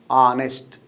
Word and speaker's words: honest: It is not giving ha sound. Ha is silent. Honest, honorable, honorary.